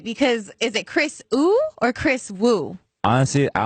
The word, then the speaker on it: Wu: was like, "Hey, this is Kris Ooh," and I was like, "I've been saying his name wrong this whole dang time."